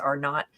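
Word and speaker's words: R0: is the you know R O I think it's pronounced R not but what is the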